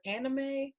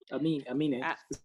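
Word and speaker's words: Aminé: his name, Amine or Anime. The guy from Caroline. Anime. Amine. Anime. Yeah. Amine. Anime. Amine. You said anime. It's Amine. I thought it was anime. Nah, it's Amine.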